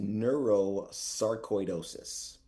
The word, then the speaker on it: neurosarcoidosis: So, it is pronounced neuroscaridosis. Yes. So, neurosaridosis is a uh at least at the time